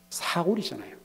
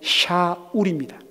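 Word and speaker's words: שָׁאוּל: 사울이잖아요. 어, 목사님, 사울과 샤알 다른데요? 여러분, 정확한 발음이 샤울입니다.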